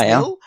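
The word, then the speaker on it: Nhill: Is that how you say it? NHIL? It is Nil.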